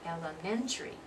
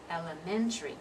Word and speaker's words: elementary: not five syllables it's Elementary Elementary but are we dropping we're dropping that syllable Elementary the next one